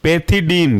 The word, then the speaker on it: pethidine: इसके अंदर के इंपॉर्टेंट एग्जांपल में से पहला है आपका पैथिडीन, PETHIDINE, पैथिडीन। इसे हम बोलते हैं मेपेरिडीन के नाम से भी जानते हैं।